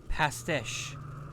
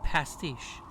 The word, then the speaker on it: pastiche: my life is complex past ish trustee sheesh it's pronounced pastiche like a Dan Schneider